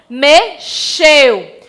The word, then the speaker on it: mexeu: E quando eu digo exclamou, a palavra pronunciada, escrita com X, tem som de S, tá, meus amores?